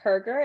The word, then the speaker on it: Hergert: am here with Dustin is it herger is that how you pronounced your life yeah it's how you pronounce it okay I was worried